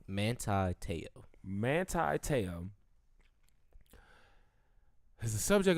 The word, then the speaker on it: Manti Te'o: Manti Te'o.